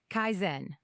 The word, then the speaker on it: kaizen: Habit number six, Kaizen. It's pronounced kaizen.